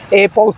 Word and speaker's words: pour: acaba de regresar del maratón pus así se pronuncia maratón para todos Robert